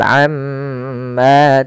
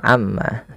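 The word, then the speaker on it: عمّا: dengan bacaan ghunah itu cara membacanya mnya ditahan Amma jangan langsung Amma tapi am Ma panjangkan dua harakat karena i madifalun ada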